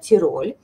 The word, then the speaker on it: Тироль: обоями из коллекции Тироль вот так правильно должна сказать Тироль Давайте поправлюсь и вас научу правильно говорить что же такое